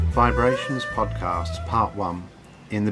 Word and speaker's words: VIBErations: uh vibrations podcasts part one in the beginning hi i'm gary brightman and this is my weekly podcast pronounced vibrations but spout vibrations well after all there will